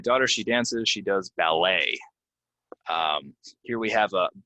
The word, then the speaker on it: ballet: of these words are we're not going to say the T it's going to be silent and it's gonna end in a right so uh my daughter she dances she does ballet um here we have